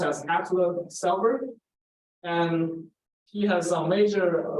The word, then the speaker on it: Atle Selberg: He came from Norway, and Viggo Brown also came from Norway, and his name is pronounced as Atle Selberg.